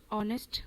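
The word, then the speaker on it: honest: सो यहां पे ऑनेस्ट बोलते वक्त एच साइलेंट हो जाता है और हमें अ सुनाई देता है।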